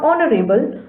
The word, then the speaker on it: honorable: Words like our, honest, honor, or honorable, though begin with a consonant, an initial consonant h is not pronounced. That is, it is silent.